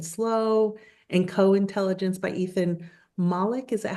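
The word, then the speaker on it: Mollick: Uh, a brief history of intelligence, thinking fast and slow, and co-intelligence by Ethan Malik. Is that how you pronounce it?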